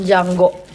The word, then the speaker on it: Django: Oh, Cuma harus nonton Django. The D is silent.